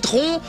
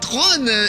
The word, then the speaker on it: Tron: ça ne s'appelle patron comme le ministre georges tron mais tron évidemment comme ça que ça se prononce à c'est le premier film avec des